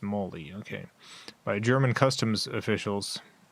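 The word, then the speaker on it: Mally: Molly, whose name is pronounced Molly?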